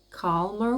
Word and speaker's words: calmer: Calmer waters are coming. I cannot pronounce this because the r is very soft, calmer, while the r in my language, Romanian, is very r, So all this being